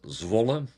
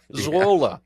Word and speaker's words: Zwolle: They have one they call Zwol. Did I pronounce that correctly? Yeah, it's a town at the east side of the Netherlands, and that is called Zwolle. Okay.